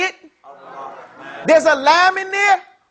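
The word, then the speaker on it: الرحمن: Don't you know that when we say Ar-Rahman, say it? Ar-Rahman. There's a lam in there? No. Yeah, there's a lam right there, but we don't pronounce it, do we? Yes. We don't say Al-Rahman.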